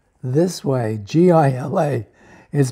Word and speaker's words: Gila: Gila monster Gila monster is spelled this way GI LA is pronounced Gila but look at that animal it's